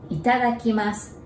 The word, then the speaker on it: Itadakimasu: Itadakimasu. There are six sounds, six Japanese characters. It sounds long, but it's actually easy to memorize. So let's break it down. Ita. It is like a country, Italy's Ita.